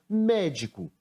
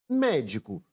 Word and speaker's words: médico: Chamando a palavra médico para descobrir a sílaba tônica, nós temos médico, médico. A posição dessa sílaba, qual foi? A última sílaba a ser escrita foi o có. A penúltima sílaba que escrevemos foi o di. Mas a sílaba que eu pronunciei com mais força, a sílaba tônica da palavra, foi o mé, e ela está na antepenúltima sílaba.